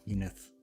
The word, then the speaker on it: Zenith: Yes, the game is pronounced Zenith with E, Zenith.